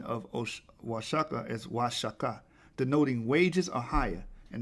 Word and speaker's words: Oaxaca: The O in the Spanish codices is pronounced wa. The X in the Spanish codices is pronounced sh, because they couldn't pronounce